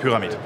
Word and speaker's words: Pyramid: yeah it's pyramid uh if I pronounce it in English then it's paramite all right no but we are a German located company and it is called pyramid right here is a big